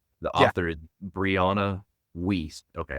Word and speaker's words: Wiest: author is Brianna Wiest. Okay, I first read it as West. It's Wiest.